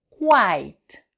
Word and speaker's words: quite: Et si vous rajoutez un E, ça va faire quite.